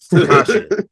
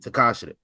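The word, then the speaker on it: Tekashi: Takasha. Tekasha. That's how you say it. Tekasha.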